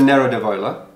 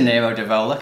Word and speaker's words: Nero d'Avola: both flee great bike okay this is a narrative Ola that is a Nero d'Avola correct thank you excellent pronunciation thank you this is a song as